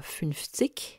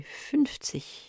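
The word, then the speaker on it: fünf: Et notez que les Allemands du nord disent non pas funz mais funf.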